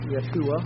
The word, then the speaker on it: Yeshua: Joshua, in Hebrew, would be pronounced more like Yeshua or something of that sort, means literally the eternal Savior, the eternal saint.